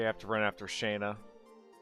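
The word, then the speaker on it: Shana: Okay, I have to run after Shayna. Her name is called. It's pronounced Shauna.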